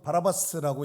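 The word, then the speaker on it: Βαραββᾶς: 자, 요 헬라어가 이제 헬라어로는 바라바스라고 읽는데 바라바를 바라바스라 읽습니다.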